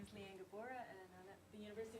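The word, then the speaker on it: Liane Gabora: next up is if I say it correctly Le lean you're up uh my name is lean gabora and I'm at the University of colia and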